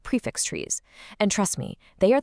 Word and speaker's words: trie: And the solution to that whole instant suggestion puzzle, it's the tree. That's spelled T R I E. But, and this is important, it's pronounced tree, just like the one in your backyard.